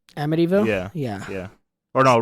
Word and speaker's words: Amityville: whatever you're actually making Amityville amille edville why are you adding extra syllables amdy AMD idville don't try a AB just say a no we're we're we're gonna get it down am one more time